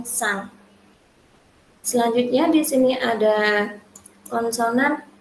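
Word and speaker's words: สร้าง: Nah, sosela dan juga rora ini akan diucapkan menjadi huruf S saja. Nah, contohnya di sini ada sang, yaitu yang terdiri dari sosela, rora, maiek, dan juga ada sara-a dan juga ngongu. Dibaca dengan sang.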